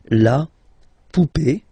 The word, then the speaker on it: poupée: And then words ending with accent aigu, and then here, okay. Remember, this final is not pronounced, so you will have this e. Remember, accent aigu, it's e sound, okay. La poupée, the doll.